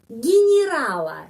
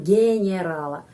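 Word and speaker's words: генерала: y g g rala tetapi kenapa huruf y harus pengucapannya seperti I karena tidak mendapat penakanan karena itu orang Rusia mengucapkan di sini i di sini I gerala gerala kita tidak mengucapkan genererala Kenapa karena ada alasan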